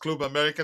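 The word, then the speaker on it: Club América: I've learned that it's pronounced Club America, not Club.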